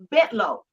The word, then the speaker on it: Bentalou: we lived on a bit low it's spelled b-e-n-t-a-l-o-u that's called ventilu and people said what is bentalou so you don't get mugged so it's bit low I know but I